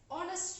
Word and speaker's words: honest: The first letter is a consonant, but we pronounce it as honest man. So it pronounces honest man. Honest man. So H is silent there.